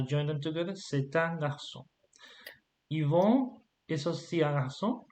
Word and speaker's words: garçon: So no, c'est un garçon. Voilà. Okay. Garçon. But notice here I don't pronounce the N. Okay, Garçon. it's a nasal. It's like on. I pronounce through my nose.